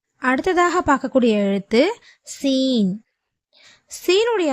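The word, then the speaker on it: سين: அடுத்ததாக பார்க்கக்கூடிய எழுத்து சீன் சீனுடைய மகர பிறப்பிடம் ஜா என்ற எழுத்துடைய மகரஜ் பிறப்பிடம் மாதிரியே கீழ் பற்களின் நடுவில் அதோட ஓரங்களை தொடும்போது சீனுடைய உச்சரிப்பு வந்து பிறக்கப்படுகிறது சீன் சீன் அடுத்ததாக பார்க்கக்கூடிய எழுத்து ஷீன்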